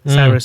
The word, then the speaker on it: Cyrus: Fun fact: did you know Old Town Road by Lil Nas X, featuring Billy Ray Cyrus? Did I say it right? Cyrus.